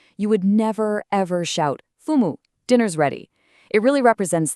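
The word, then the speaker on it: 父母: So, first up we have fumo, pronounced fumu.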